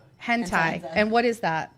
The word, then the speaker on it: hentai: Hanai? How do you say? Hentai.